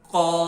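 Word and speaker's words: ق: How you can pronounce heavy sound very easily? You will be do just round your lips. Little bit round your lips. Qaf. Yes, the exit point of Qaf is also very important. The exit point of Qaf is first point of our throat. The starting point of our throat. That one is that one. Qa, qa, qa. And sound is heavy. Qa, qa, qaf.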